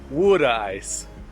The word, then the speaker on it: water ice: and it's Italian too it's Italian water ice is how you say it wood wood ice regardless of how you